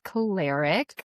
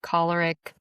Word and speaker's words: choleric: So we'll start with the extroverted temperaments which the first one we're going to talk about is caleric collaric caleric. People pronounce it differently.